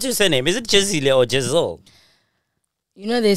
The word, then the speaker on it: Jezile: Is it Jezile or Jezile? You know they say Jezile now on BGT, but it's actually Jezile.